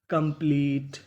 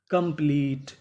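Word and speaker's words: complete: अगर आपको इंग्लिश की मीनिंग में आखिरी में इ लिखा मिले तो आपको इ का उच्चारण नहीं करना होता।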